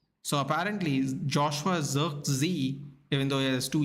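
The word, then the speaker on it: Zirkzee: on this pitch uh apparently you say his name Joshua z z even he has two E's so it's very interesting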